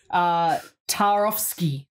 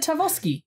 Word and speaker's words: Tarkovsky: I speak it's like, I don't want to say the K, I'm just like Tarkovsky. But anyway, Tarkovsky, there you go, I actually pronounce it. Tarkovsky. You're missing still the K.